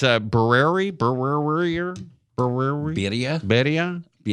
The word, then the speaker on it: birria: Vito's Tacos, and it's a birria birria birria birria birria birria It's a guisado.